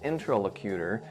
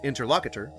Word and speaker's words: interlocutor: attempts to make a fool out of his interlocutor, so the skeptic has no... Now that is an interesting way to say that. I'd always heard it pronounced interlocutor.